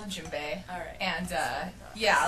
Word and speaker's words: djembe: it's it's called a djembe alright and yeah like it's got a D in it so a lot of